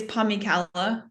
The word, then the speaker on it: Pomykala: It's Pomykala. Pomykala. That's how I was saying it in my head. It's a really fun last name. So awesome. All right. Claire Pomykala is on the adventure of a lifetime, solo